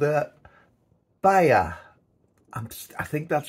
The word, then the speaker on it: Bihai: and it's called Uh Bayer I'm just I think that's very pronounce that the spelling is b-i-h-a-i so buy a bear uh I take it the age is sort of silent but never made that